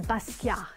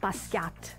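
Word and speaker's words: Basquiat: mother my name is Basia he would pronounce in the French manner not Basa gaap As Americans would say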